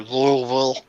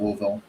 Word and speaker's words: Louisville: Louisville oh of course he kind of runs it together a little bit faster than I do but I'm a laid-back